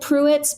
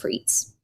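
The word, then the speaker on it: Pruetz: It smelled like Puitz, but it's pronounced Pitz.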